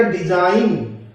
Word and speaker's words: design: DESIGN, ये बनेगा डिजाइन। इसमें जी साइलेंट रहेगा, आप जी को चाहे ना बोले।